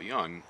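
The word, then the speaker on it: Jung: Yeah, Carl Young is spelled with a J if you want to look him up.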